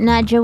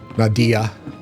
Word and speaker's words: Nadia: You got Nadja with you? Yeah. I got Nadia. Nadia. I keep calling her Nadja because of... I keep pronouncing it that way because of what we do in the shadows.